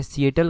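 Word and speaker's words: Seattle: सीटल country एक आती है। सीएटल country. ये आपने प्रोनाउंसिएशन देख लेनी है।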